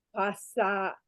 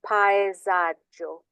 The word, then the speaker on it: paesaggio: Ho dipinto un passaggio toscano. Mi piace molto dipingere qui. Okay, let's just get that pronunciation correct. Ho dipinto un paesaggio.